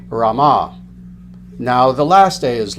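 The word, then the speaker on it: Rāma: you have Rama now you'll see the first day is long the second a is short Rama this is referring to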